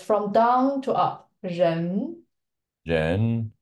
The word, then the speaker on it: 人: Ren. Jen. It's from down to up. Ren.